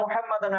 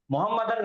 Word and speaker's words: مُحَمَّدًا: وَأَشْهَدُ أَنَّ مُحَمَّدًا عَبْدُهُ وَرَسُولُهُ، وَأَشْهَدُ أَنَّ مُحَمَّدًا عَبْدُهُ وَرَسُولُهُ. آپ کتنا بھی فاسٹ پڑھو آپ کو تلفظ صحیح کرنا ہے. محمدن نہیں بولنا، کبھی بھی نہیں بولنا محمدن.